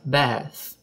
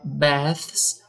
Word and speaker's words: Beth: The parrot of Beth. Perceba que o nome Beth tem um TH no final, então a gente vai pronunciar com a língua entre os dentes.